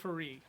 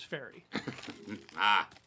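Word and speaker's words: Faerûn: from the land of Faerû. Now, I say Faerû because I really don't want to pronounce it as fairy.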